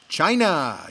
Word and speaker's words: Chyna: correct answer is wrestler Chyna Chyna rhymes with vagina but China actually is